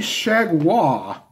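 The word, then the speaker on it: Chargois: they will go with JT shag wha I know wouldn't expect that's how you would pronounce it but that's what they said when I pulled up the media guide okay so shad hua will finish up his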